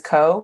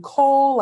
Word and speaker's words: Ko: So my name is Co, K-O, Co. That's it. I spell it so that y'all don't add any extra letters. Literally, otherwise, I'm Cole, I'm Nicole, and I'm none of those things.